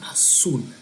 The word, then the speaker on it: azul: Then the next one is azul. Azul, remember the Z or the Z in Spanish is going to be pronounced like almost like S sound in English.